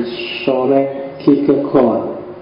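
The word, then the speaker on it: Kierkegaard: Denmark namanya adalah soren kegat kalau pakai lidahnya orang sana biasanya membacanya agak bulat di belakang jadi s k gegor jadi rodok masuk ke kerongkongan suaranya jadi jadi O bukan A tapi ya gak apa-apa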